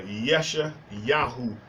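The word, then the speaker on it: ישעיהו: read Isaiah chapter 16 and remember Isaiah is pronounced uh yesha yahu in Hebrew yesha yabu yahu in Hebrew yesha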